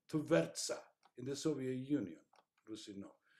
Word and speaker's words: Tvertsa: Interestingly, shown the results of a series of real-life experiments conducted on the river Tretsa, I don't pronounce that, Tvertsa, in the Soviet Union, Rusino.